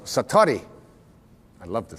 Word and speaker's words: satori: it's called excuse my Japanese but it's called Satori I'd love to say that sat s a